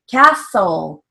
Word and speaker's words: castle: back for final l castle k a s come back for final l that has a silent t so we don't even